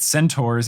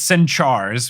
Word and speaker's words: centaur: then Firenze says that centaurs and they always pronounce its end chars which is ridiculous says that they are